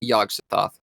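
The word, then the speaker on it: Yog-Sothoth: It is pronounced Yagsthoth.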